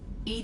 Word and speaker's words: EDI: is a jar why are you named Ed Ed is the phonetic pronunciation of Ed that is an acronym for